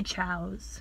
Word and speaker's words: Tso's: General Chow's. How do you say it? I say Chow's, but it's like T-S-O.